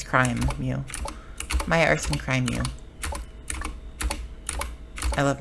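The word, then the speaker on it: crimew: Crime, like criminal activity, but crime. I mean, okay, Crimeo, but it's not. It's crime, Mew.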